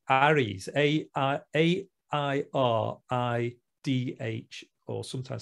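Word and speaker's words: àirigh: They're called Airids, AIRIDH, or sometimes spelt with a GH.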